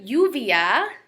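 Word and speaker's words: lluvia: l sound Lio but if you see two L's together it's going to be pronounced kind of like a y would in English so this word yuvia means rain see so Libro one l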